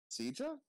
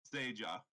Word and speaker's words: Seija: Sija? Oh. Is that not how you pronounce it? Seja. Oh. I pronounce it the Spanish way. Seja.